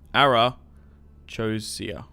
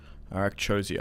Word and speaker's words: Arachosia: Wait, what? Arachosia. Okay. Arakchosia. I think that's how you say it.